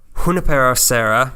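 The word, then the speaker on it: Junípero Serra: running the missions was a Franciscan priest named Junipero Serra was the last time I'm gonna pronounce it correctly as all the priests did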